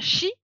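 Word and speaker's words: ち: Notamment, CHI ne se prononce pas chi, mais chi. En fait, c'est TCH.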